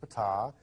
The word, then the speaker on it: Ptah: While he was there, he got to meet Ptah, that's pronounced Ptah, and he's the leader, or one of the leaders, of the Pleiadian race.